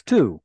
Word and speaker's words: two: say TW no it's two where' the W go not pronounced yes it's like it fell out uh kind of like a silent W yeah right exactly how